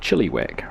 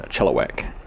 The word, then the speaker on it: Chilliwack: uh shortening my eye I was saying it more like Chilliwack rather than Chilliwack so hopefully it might